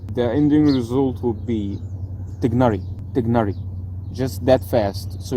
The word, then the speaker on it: Tighnari: English in my opinion I think the closest English pronunciation to the original Arabic pronunciation is dignari we replace these three